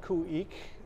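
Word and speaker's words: Khueex: So the group is called Kuik. It's spelled K-H-U-E-E-X.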